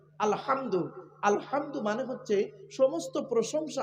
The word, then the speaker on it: আলহামদু: বোনেরা শুদ্ধ করে নিন আলহামদু গলা ভেতর থেকে হে এটা উচ্চারণ করবেন আলহামদু আলহামদু মানে হচ্ছে সমস্ত